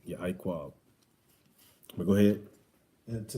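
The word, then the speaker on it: יעקב: And what did anybody know what Jacob means in the ancient Hebrew? It's Ya'iquab. That's how you say it. Ya'iquab.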